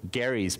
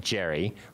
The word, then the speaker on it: Gerry: districts that Eldridge Garrard Gary's party not Eldridge Gary not Jerry if we mispronounce it now but we say Des Moines anyway so it doesn't really matter but it comes from